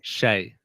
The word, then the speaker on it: SHAI: I was corrected with the way I pronounce shy. Shay.